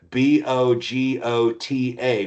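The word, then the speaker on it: Bogotá: And a lot of my family lives in a town that is spelled B O G O T A, which in Colombia is pronounced Bogota.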